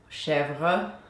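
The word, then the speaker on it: Chèvre: With today's milk, I'm going to be making Chevre or goat's cheese, Chevre, if you want to pronounce it in French.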